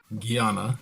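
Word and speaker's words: jnana: yoga inic terminology this class uses Gana yoga pronounced Gana spelled with a JN na a but is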